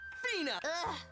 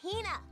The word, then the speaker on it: Hina: And this lady is my companion, the esteemed archaeologist, Fina. You keep saying it wrong. It's Hina.